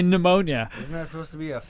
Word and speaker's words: pneumonia: - but you don't pronounce that you just pronounce a P for whatever reason skipping say pneumonia yeah there you go for pneumonia it's more